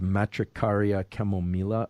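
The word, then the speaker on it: Matricaria chamomilla: derivative of the chamomile i think the the proper pronunciation of this is matricaria chamomila although i always feel like i should be using a spanish accent whenever i uh whenever i say something like that um other related things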